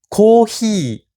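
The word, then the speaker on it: コーヒー: Café cohi. Très simple. Et là encore là où le H avec feu devait se prononcer feu. Le H doit se prononcer H en japonais. Donc comme un H anglais.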